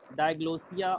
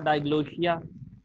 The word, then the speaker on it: diglossia: And further subtopics are there in the chapter: codes, diglossia or diglossia, the both pronunciations are correct, bilingualism and so on.